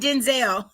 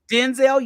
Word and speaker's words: Denzel: pronounce his name right it's Denzel it's not Denzel oh is that okay Denzel it's like like this like Vin Diesel okay child was saying Gail King you said already okay Gail okay Denzel yes I love it